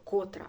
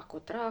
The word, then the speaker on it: котра: не знаю говорити правильно не е котра а котра година наголос поставити тощо Ось такі моменти